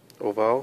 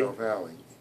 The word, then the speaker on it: foramen ovale: Oval, foramen oval. Yeah, pronounce the E. Say Valley. foramen ovale.